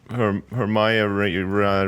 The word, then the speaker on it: Hermione: It's a bit like Siobhan, It's like one of those names that it is not spelt the way that it's pronounced at all.